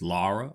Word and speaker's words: Lara: Her name's not Laura. It's not. It's Lara.